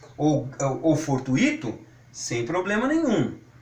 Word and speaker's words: fortuito: Então, se as pessoas saírem por aí e quiserem pronunciar intuito, circuito, gratuito ou fortuito, sem problema nenhum. Nós estamos sugerindo que sejam pronunciadas de acordo com muito, certo?